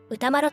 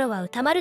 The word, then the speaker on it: 歌麿: By the way, while today we pronounce his name as Utamaro, this pronunciation only became common after the 19th century. During his lifetime, and among those who knew him personally, he was likely called Utamaru.